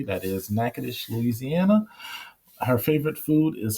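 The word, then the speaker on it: Natchitoches: I am from Louisiana so I did pronounce that correctly. That is Nackadish Louisiana.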